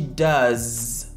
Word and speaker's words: does: She does. She does. D-O-E-S, mais on prononce za. Le E-S se prononce comme le son za.